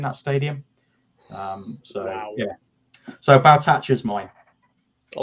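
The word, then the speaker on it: Sergei Baltacha: So Baltacha's mine. I like that. I like that. Of course, it was a running joke for a while. Of course, I said his name wrong. I called him Sergi Bolcher, and that became a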